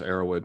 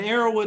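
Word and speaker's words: Erowid: humans and psychoactives and arrowwood is spelled just like it sounds e-r-o-w-id dot org okay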